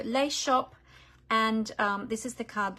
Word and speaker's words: Les Shoppes: it's spelled l-e-s-h-o-p-p-e-s but being French I don't know that you pronounce the S at the end of shop so lace shop and this is the